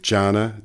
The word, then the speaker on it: Jana: and you're an asset consultant with Jana, is that how it's pronounced? That's right.